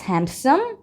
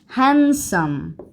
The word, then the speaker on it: handsome: hand cief hand cief handome silent handsome for example my brother is handsome no handsome handome handsome handsome handsome okay so I need